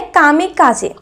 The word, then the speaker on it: kamikaze: pilot के बारे में इनको प्रोनाउंस किया जाता है काम काज जिसका मीनिंग होता है